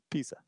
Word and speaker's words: Pisa: Pisa. Really close to pizza. It's close, but it's not. It's with an S, not two Z's.